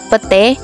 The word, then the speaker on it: petai: kata ramai diucapkan rame petai diucapkan pete perubahan ini terjadi pada